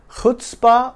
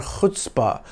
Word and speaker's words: chutzpah: Let's look at a word with spunk, chutzpah. Pronounce it chutzpah or chutzpah with that guttural H, like you're clearing your throat with gusto.